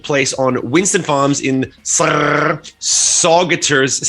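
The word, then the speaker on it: Saugerties: This festival took place on Winston Farms in Saugaters. How do you say it? Saugaters, saggy tits, Saugaters, sausages, New York, some fucking sog town in New York. Socrates. I never would have guessed Socrates.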